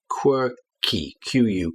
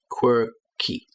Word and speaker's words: quirky: You've got that qu at the beginning like the word quick. Quick. But here quirky quirk quirky.